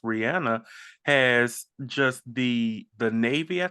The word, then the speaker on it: Rihanna: If there's somebody, Rihanna, whose name is properly pronounced Rihanna, has just the Navy, I think it's called.